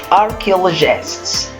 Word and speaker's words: archaeologist: To move to the next part, archaeologists. Here we have a picture of an archaeologist. Archaeologist. So listen to me to how I pronounce CH here. Oh, so we pronounce CH here like k, not ch.